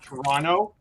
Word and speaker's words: Toronto: i'm not from toronto people from that were born in toronto they say toronto t-r-o-n-o whereas most people that